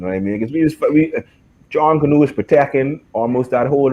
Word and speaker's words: JunKaNoo: you pronounce the name, Chris? Is it JunKaNoo. Say it again. JunKaNoo.